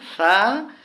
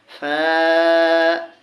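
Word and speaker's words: ف: বা তা ফা হ্যাঁ এই যে আসুন ফা এটাকে নরম করে বলতে হবে এটা হচ্ছে নরম হরফ ফা ফা জিম জিম তাহলে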